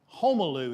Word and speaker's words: Homolu: Homolu is the way you pronounce his name.